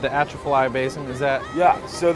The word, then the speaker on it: Atchafalaya: Correct me my pronunciation, the Atchafalaya Basin, is that?